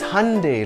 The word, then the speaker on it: Hyundai: and Twitter thank you it's Hyundai like Sunday remember the Super Bowl